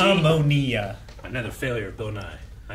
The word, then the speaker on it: ammonia: What is the difference when pronouncing the smelling salt versus what she has? The smelling salt is made out of... Ammonia.